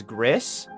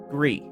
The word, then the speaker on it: Gris: I would pronounce it as Gris. So, like, even if we were going the GIF angle, I still wouldn't want to pronounce it the way that other people pronounce it.